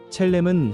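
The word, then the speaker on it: צלם: 여기서 형상이라는 말은 히브리어 발음으로 첼렘입니다. 첼렘은 하나님을 닮은 모습, 하나님의 성품과 영광을 반영하도록 지음받았다는 의미입니다.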